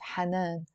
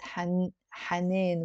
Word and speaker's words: حنين: But also in standard Arabic, they say that with an alif, hanan. But in Lebanese, we pronounce it hanin with an a.